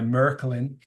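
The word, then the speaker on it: Märklin: uh 125 years old it was introduced by Merkin that's the cor correct pronunciation I speak German um merklin also invented H gauge and they invented engage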